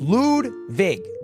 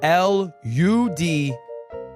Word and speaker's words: Ludwig: My name is pronounced Ludwig. It's the correct pronunciation. I think my grandfather's German. I'm not sure. Ludwig. Guys, it's not spelled L-E-W-D. It's L-U-D-W-I-G. It's just pronounced Ludwig.